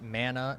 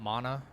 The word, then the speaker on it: mana: By the way, Zach, it's pronounced mana, not mana.